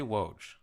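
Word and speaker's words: Wojnarowski: say why can't you just say woj wo but I always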